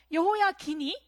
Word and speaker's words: 여호야긴: 19대는 여호야긴. 발음에 주의를 해야 돼요. 사람이 바뀔 수가 있습니다. 그의 아버지는 여호야김이었고 여호야김이 죽자 그의 아들에게로 왕위가 넘어가는데요. 여호야긴이 바로 19대 왕이 됩니다.